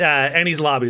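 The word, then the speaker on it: Enies Lobby: Well, that's how you say it. Annie's lobby is how you say it.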